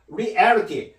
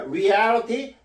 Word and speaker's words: reality: 뭐 예를 들면 현실 실제하는 걸 reality는데 요것도 reality 여기에 강세가 있기 때문에 이걸 강하게 해줘로 발음해 줘야 됩니다 reality nationality 이렇게 발음 이렇게 발음해야지만 원어민 같이 느껴집니다